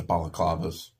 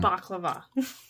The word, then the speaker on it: balaclava: you call them the balaclavas yeah did I say it right yes wow balaclava not baklava they both sound delicious